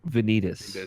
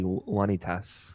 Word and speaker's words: Vanitas: Because it's not the actual Latin. Vanitas. Vanitas. Yeah. The Latin would be Vanitas, Yeah. which just sounds cool.